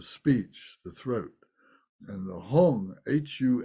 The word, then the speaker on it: hung: This Heart Center but in tibetan they say it as hung so not to be